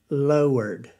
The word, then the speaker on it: Lord: But I guess they wanted 2 syllables for Lord, because many I've heard pronounce Lord as lowered.